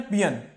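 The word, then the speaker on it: paean: ये बहुत ही important word है, पियन, इसका प्रोनाउंसिएशन है पियन, पियन, ओके।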